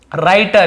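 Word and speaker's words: writer: जो एक्टिंग करते हैं राइटर यहां प डब्लू साइलेंट है इसे राइटर नहीं पढ़ेंगे राइटर पढ़ेंगे र डब्लू सेट होता है लेकिन लिखते जरूर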